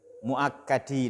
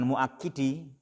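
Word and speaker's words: مؤكَّد: Muakkadi, na'am, sahih, muakkadi. Jangan muakkidi.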